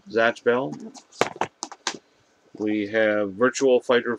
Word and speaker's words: Zatch Bell: How do you say that? Catch or Zatch? Zatch Bell? Zatch Bell.